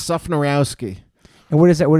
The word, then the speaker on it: Szufnarowski: how do you say your last name it's sophonyrowski and what is that what does that come